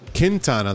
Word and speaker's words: Quintana: So, Quintana will lay some chips down. Quintana, that's how it's pronounced.